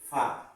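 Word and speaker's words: فاء: এরপরে ফা, এই হরফটার নাম ফা। ফা সামনের উপরে দুইটা দাঁত এবং ঠোঁটের উপরে এসে চাপ পড়বে।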